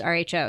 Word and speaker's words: Rho: and by the way I did ask if it's row or R and it is rho so I totally been